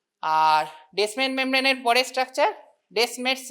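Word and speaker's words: Descemet: ডেসমেন মেমব্রেনের পরের structure ডেসমেস membrane মানে টিটা সাইলেন্ট থাকবে।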